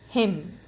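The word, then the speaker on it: hymn: this word doubt him the silent letter in this word is n him knowledge the letter silent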